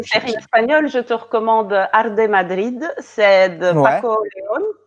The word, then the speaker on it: Arde Madrid: Donc Arde Madrid, pour prononcer à la française.